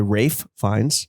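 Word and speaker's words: Ralph Fiennes: acting by our boy Rafe fins that's how you pronounce it please don't touch my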